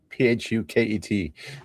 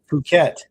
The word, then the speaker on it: Phuket: P H U K E T Yeah. Phuket Hyderabad Phuket That's what they said when they were landing. They're like, you know what? Phuket, we won't flare.